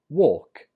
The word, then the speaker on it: walk: The difference is in the vowel, or and walk and work.